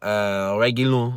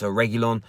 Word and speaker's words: Reguilon: Sergio Reguilon, I think it's pronounced, Reguilon, along those lines.